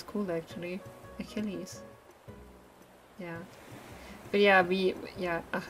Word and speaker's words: Achilles: achilles in my brain in english it's a achilles okay achilles uh achilles oh gosh achilles here oh that sounds cool actually achilles yeah but yeah we